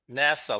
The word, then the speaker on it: Nassau: and the Bahamas now I've always pronounced it Nassau what's for those who've been there nasau nasau like like like the space agency almost yeah NASA and then here's uh here's